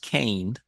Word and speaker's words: kine: i NE e yeah but it's pronounced cane and uh like the farmer purchased a cane of 25 for a